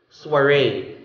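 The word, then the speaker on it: soirée: as quaffer quaffer okay soiree the same thing french origin say the o i is pronounced as wah and since there's so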